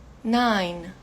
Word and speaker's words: nine: como Só se fosse isso aqui e e nine nine ó de novo mais um e que é mudo no final nine nine ten ten ten